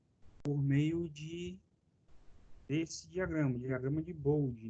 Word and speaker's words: Bode: E é possível representar isso graficamente por meio desse diagrama de Bode, não é Bode, é Bode.